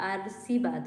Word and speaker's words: आशीर्वाद: ये जो लिखा है ये और ये दोनों दिखने में सही ठीक ठीक लग रहा है, लेकिन इसको अगर उच्चारण करेंगे तो ये आशीर्वाद होगा, आशीर्वाद, क्योंकि यहाँ पर लगा हुआ है आशीर्वाद, ये वाला करेक्ट है।